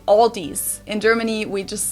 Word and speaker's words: Aldi: for very low prices in English people usually pronounce this Aldi I think I've also heard Aldi before but I think most people say Aldi or they also sometimes add an s that isn't there in the end and say Aldi's in